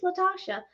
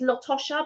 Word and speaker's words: Latasha: I said, I thought that sound, because she goes, oh, a lot of people say it's Latosha, but it's not. It's spelt Latosha, but it's actually Latasha.